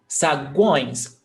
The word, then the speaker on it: saguões: Então, saguões, guões. You almost don't hear the gu, guões.